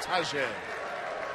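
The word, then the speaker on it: Tahjai: First name spelled T-A-H-J-A-I, pronounced Tajay.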